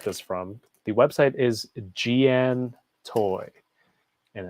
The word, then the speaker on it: Giantoy: from the website is Gian toy and it looks like it's spelled giant toy which could be a common mistake but it's uh giantoy I mean dude I